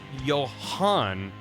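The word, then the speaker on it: Jan: Uh if it's Danish, you want to pronounce Yan with the A from cat.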